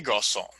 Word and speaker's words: garçons: For example, le garçon, the boy, in plural, would become les garçons. Now notice you still don't pronounce the yes at the end.